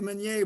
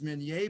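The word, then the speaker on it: Minié: spiral this is the menier ball everybody calls it mini ball and the correct pronunciation is menier because it was invented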